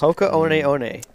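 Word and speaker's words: Hoka One One: that's what it is that's pronounced hoko on on yeah and so team boss is officially a train I'm still going to say hoko one one so yeah I don't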